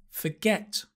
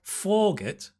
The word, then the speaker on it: forget: Because I was putting the stress in the wrong place. And if I change it, you might understand. So the first one should have been forget, right? Not forget, forget.